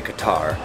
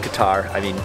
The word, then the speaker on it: Qatar: And I believe it is pronounced Qatar, and I'm gonna say Qatar. It's technically Qatar, we're more Qatar, which is like really hard to pronounce for my American accent.